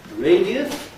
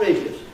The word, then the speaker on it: radius: You can say radius, 3 syllables, or radius, 2 syllables, radius.